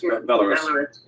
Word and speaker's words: Belarus: Is that how you pronounce it? Yes. Belarus? Yes. Belarus.